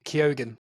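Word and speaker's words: Keoghan: you're GNA have to learn how to say his name kogen kogen sorry sorry say you say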